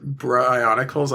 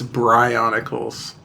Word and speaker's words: Bryonicals: And I did ask him how he pronounces it, and he says it's Bryonicals. Wait, Bryonicals? Like Brian? Yeah, like Bryonicals.